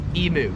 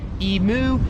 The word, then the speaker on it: emu: As you can tell by the intro, the first word that Americans and Australians just pronounce differently is emu. So, Americans pronounce it emu, Australians pronounce it emu.